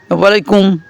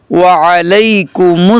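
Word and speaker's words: وعليكم: ধরনের সালামের উত্তর দিলে ওয়ালাইকুম মানে মিম উচ্চারণ করতে হবে ওয়ালাইকুম আসসালাম ওয়ারাহমাতুল্লাহি ওয়াবারাকাতুহ এবার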